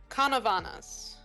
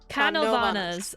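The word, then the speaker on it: Canóvanas: I'm awful at pronouncing things, so Canavanas. Canovanas.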